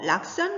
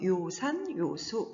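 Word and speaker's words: 요산요수: 한번 얘기한 적 있죠 음악할 때는 악이라고 읽고 자 이거 락산 락스라고 읽는 순간에 굉장히 품이 없어진다고 얘기했습니다 꼭 기억하세요 요산 요수 산을 좋아하고 물을 좋아하다는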